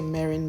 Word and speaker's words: mirin: the sauce a mirin I say Marin mirin I think it's pronounced Marin and that is the